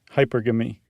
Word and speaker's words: hypergamy: Hypergamy? Like monogamy. Hypergamy. Okay. Hypergamy. Hypergamy. That's what I'm going with. Finally stumbled upon it. Wonder what Yitzi has to say about all this. Hypergamy. Hypergamy.